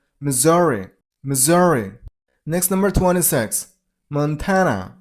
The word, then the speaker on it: Missouri: next number 25 Missouri this is turns into sound so Missouri stress on the middle syllable I mean on z sound Missouri.